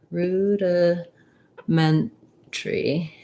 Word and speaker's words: rudimentary: reduce that syllable um the syllable stress is on the ment there's our red tent